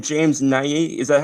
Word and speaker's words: Nagy: James Nagy? Is that how you pronounce it? James Nagy. Yeah. Nagy.